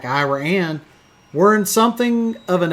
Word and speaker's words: Iraan: Denny the dinosaur in iraan Texas that's right I said iraan it is spelled like Iran the country but with an extra a and they call it Ira an so this was